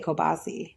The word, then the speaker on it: kielbasa: It's kielbasa. It's kielbasa. But that's not Kielbasa. how it's said. But we say, like I say kielbasi. Kielbasi. No, I know, but I think that's the proper way to say it.